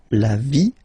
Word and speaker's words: vie: And then when they're ending with ie, like here, okay, so basically you don't pronounce the okay, so it will be only the sound I, okay, for instance, la vie, life, okay, la partie,